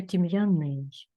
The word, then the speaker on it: тім'яний: я правильно зробила так на перший склад падає наголос у слові я правильно зробила ні не правильно А тепер буде правильний тому що тім'яний Тобто ви тут можете точно побачити в яких